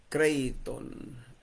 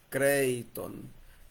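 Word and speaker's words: κρείττων: La primera de ellas es Creiton. ¿Cómo suena? Creiton. K R E I latina W T O N CON La el acento lo lleva la letra I para dividir el tongo Citon K R E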